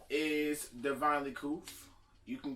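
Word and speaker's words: Couth: new to the channel, my name is Divinely Koof. You can call me Koof for short, C-O-U-T-H, because you can't spell it either.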